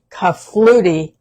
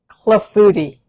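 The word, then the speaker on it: clafoutis: I was saying for a long time I was saying kafluti, but it's cleuti with a c.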